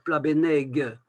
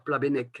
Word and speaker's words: Plabennec: C'est pas parce qu'on écrit Plabennec avec un G qu'il faut dire Plabenneg. Il faut continuer à dire Plabennec, hein.